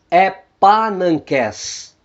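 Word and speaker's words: ἐπάναγκες: O gama antes das guturais capa, gama e ri vão soar como N.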